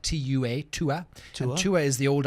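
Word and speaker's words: Tuath: is a a unique glass is called the to a glass a tu a th but you pronounce it like tu a to a to a is the old Irish word for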